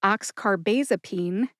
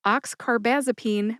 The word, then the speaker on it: oxcarbazepine: One is oxcarbasene and the other is oxarbamazipene which is altogether wrong because it's oxcarbazipene mixed with carbomazipene and those are just two different drugs altogether.